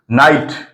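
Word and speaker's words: knight: এর পরে এন আছে কে এর উচ্চারণটা হবে না নলেজ নি মানে হাঁটু নাইট মানে বীর নট মানে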